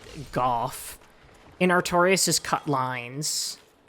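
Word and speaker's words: Gough: Apparently it's pronounced Golf.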